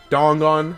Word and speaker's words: Dangan: Dongan.